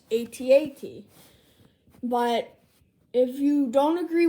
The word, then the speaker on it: AT-AT: I'm very sorry for the delay, but without further ado, let's get into the Star Wars Black Series AT-AT driver.